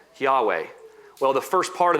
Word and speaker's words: Yahweh: And we don't really know how that is pronounced, but that's how we pronounce it, Yahweh.